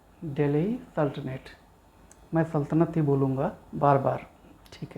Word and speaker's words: Delhi Sultanate: नया चैप्टर दिल्ली सल्तनत या फिर इसको प्रोनाउंस करते हैं दिल्ली सल्तनेट बोलूंगा बार-बार ठीक है